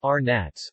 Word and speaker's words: Vranac: Vranac, pronounced Arnats, Montenegrin and Serbian Cyrillic, Vranac is a variety of grapes and a red wine from Montenegro.